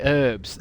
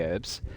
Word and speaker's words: herb: Maybe you played the herbs. I know there was one called the herbs. I didn't have the herbs. Herbs. I love how Americans say herb instead of herb.